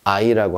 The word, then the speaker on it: hay: 뭐라고 합니까 아이라고 합니다 첫 번째 h 이건 그 힙 발음이 없어져 버리죠 그냥 아이라고 합니다 자 다음에 운 노고